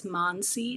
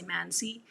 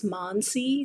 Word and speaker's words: Mansi: And I'm very particular about the way my name is pronounced. It's Mansi. A lot of people say Mansi. It's Mansi.